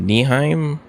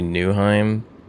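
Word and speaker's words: Nyheim: Is it Niheim? The server Rotated or the map Rotated Avalon Nheim Niheim. I don't know what the I don't know the pronunciation of it is. It's actually Newheim.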